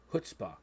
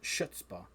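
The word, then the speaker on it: chutzpah: by the wild hurts hutzpah not shutspaw which i thought at first but uh this album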